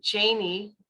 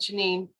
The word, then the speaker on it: Janine: it a lot of people did call me Janie thinking that's how you pronounce it until you know but at home I was uh I was called Janine uh until I got